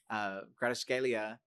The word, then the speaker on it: Kvaratskhelia: Kvaratskhelia, he probably in my opinion, over Dembele.